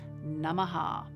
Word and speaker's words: namaha: chant om nama shivaya if another word follows nama then the second part of the vowel is not pronounced but if it's at the end of the sentence as in this case this mantra of um shreem mahalakshmi namaha then it's pronounced namaha we will chant it